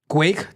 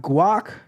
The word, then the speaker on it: guake: pronounce this terminal right it is not guac it is Quake like Quake but with a G not cake but Quake